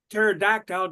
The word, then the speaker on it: pterodactyl: you hear uh uh pterodactyle go to the bathroom because the p is silent it's spelled p t